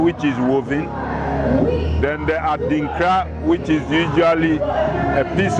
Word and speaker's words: Adinkra: Adinkra is spelled A-D-I-N-K-R-A.